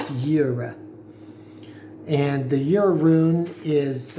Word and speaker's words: Jera: So rosemary is associated with the 12th rune, and that rune is Jera, spelled Jera, but pronounced Jera.